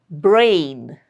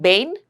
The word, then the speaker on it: brain: Brain, brain, BR. You have to hear the sound of B and R very clearly. If you're saying Bain, no, that wouldn't be right.